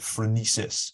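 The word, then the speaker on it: phronesis: the book about Aristotle and his idea of frenesis if I pronounce that correctly you do thank you I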